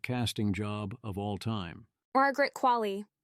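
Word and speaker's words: Qualley: job of all time Margaret qu the same way Wall-E pronounces his name but with a Q at the start Margaret qu on how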